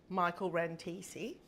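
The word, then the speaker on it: Michael Rantissi: We have got Michael Rantesi. Is that pronounced correctly?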